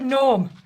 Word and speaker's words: gnome: And the word gnome, why do we need the letter J?